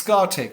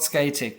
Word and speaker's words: Scatec: In a nutshell, and it's Scatec, not Scatec, potato, but I'll stick to your pronunciation.